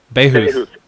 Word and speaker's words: Bahouth: Bahouth, is that how you say it? Bahouth.